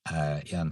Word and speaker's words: Iain: My first name is spelled Iain. Kind of looks like Lane sometimes to some people.